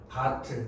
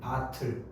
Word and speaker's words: 밭을: 바틀. 네가 지금까지 바칠이라고 했던 거 다 잘못된 발음이야. 네. 바틀. 알겠어? 아, 티귿이 그냥 올라가는 거야.